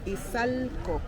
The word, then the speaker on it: Izalco: Izalco. Izalco. Izalco. Oh my God. My pronunciation.